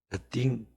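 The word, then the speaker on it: earthing: 싱이라고 하면 안 돼. 딩 그래야 안 돼. 어딩.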